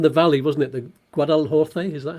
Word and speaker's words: Guadalhorce: The Guadalhorce, is that how you pronounce that? Yes, it's the Guadalhorce Valley.